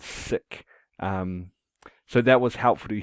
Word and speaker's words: Sikh: So far, I'd been saying Sikh as though it was spelt like this, Seek. Um, and from reading, I heard that that's wrong and that it's pronounced more like the English word sick.